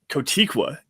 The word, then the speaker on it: Kotwica: hires today including uh Ben kotiqua is how you say his name Ben katiqua and Mike Westhoff former